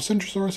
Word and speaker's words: Centrosaurus: However, not only are the names Kentrosaurus and Centrosaurus spelled differently, they are pronounced differently, with the Kentrosaurus having a kicking K, while Centrosaurus has a soft C pronounced more like an S.